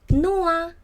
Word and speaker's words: Noah: Another example is Noah.